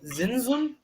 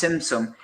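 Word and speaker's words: Tzimtzum: But then he has, like, I think it says here that apparently after that you have Zinzum. I can't pronounce that. The idea of the contraction. So it's Simsum.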